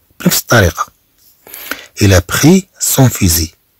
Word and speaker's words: fusil: إلى بخي سون فيزي، طبعا فيزي هاد ال ما تتنطقش.